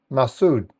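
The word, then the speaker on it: מצוד: Um the word fortress which is is pronounced mass massud in in in Hebrew.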